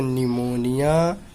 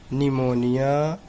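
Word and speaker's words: pneumonia: ए column और पीठ जबकि इस टीम से पहले पी आता है तो पी साइलेंट होता है कि निमोनिया निमोनिया साल मत पलटो तम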